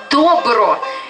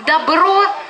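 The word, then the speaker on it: Dobro: Обратите внимание, что «Добро» пишется как «Добро», только ударение на другой слог.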